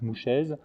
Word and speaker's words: Mouchez: Janssen, et surtout après, l'amiral Mouchet, je prononce comme ça, ou certains disent Mouchez, qui devient un directeur